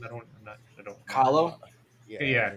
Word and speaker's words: Kahlo: Kahlo? Yeah, Kahlo.